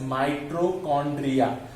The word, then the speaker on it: mitochondria: Okay, माइटोकॉन्ड्रिया, it's pronunciated as mitochondria.